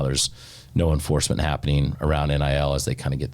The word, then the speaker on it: NIL: That is how you say it, NIL. Some people will be like, how's NIL going? And that's when I know they don't know what they're talking about, but it's okay.